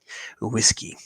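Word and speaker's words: uisge: that is Scottish gallic for whiskey and it's pronounced whiskey that's it it was an old joke from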